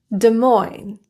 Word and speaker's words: Des Moines: Illinois, Des Moines, core, debris, Viscount. T. T is a very commonly produced silent letter.